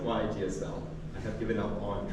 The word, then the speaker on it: YAGSL: Do you guys have any opinion about the pronunciation YASS? I pronounce it YGSL.